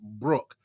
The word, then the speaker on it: Brooke: So I didn't know that your name was pronounced Brooke. Don't ask me why. I thought it was some weird pronunciation. So that's why I never attempted to pronounce it. I literally broke. I thought it was like broku.